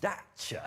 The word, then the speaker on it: Dacia: They keep Dacia. No, I think that's because that's how you say it in Romania where it's built.